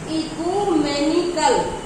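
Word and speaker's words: ecumenical: फिर है इकोमेंशियल, इकोमेंशियल, तो इको पढ़ा जाएगा इसको, ECUMENTICAL, एक ऑप्शन मिलेगा, MENICAL मिलेगा, MICL मिलेगा। तो देखिएगा इकोमेनिकल, इकोमेनिकल, तो MENICAL, स्पेलिंग ध्यान रखिएगा।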